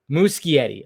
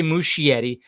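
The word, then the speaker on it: Muschietti: saying it right okay mush Yeti it's uh musetti okay so there's a K in there not an h i shouldn't say Mushi Yeti it's musetti mus mus Yeti okay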